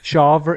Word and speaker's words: Shawver: I'm going to rely on your pronunciation, Michael. Shawver. It's SHAWVER.